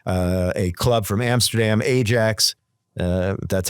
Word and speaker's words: Ajax: between makabi and uh a club from Amsterdam Ajax uh that's how you pronounce it um and this was not a